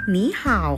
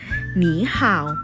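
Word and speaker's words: 你好: หอม นะ คะ สอง คำ นี้ มา รวม กัน ยัง อ่าน ว่า หนี ห่าว ค่ะ ทบ ทวน นะ คะ อ่าน ว่า ยัง ไง นะ คะ หนี ห่าว ไม่ ยาก เลย ค่ะ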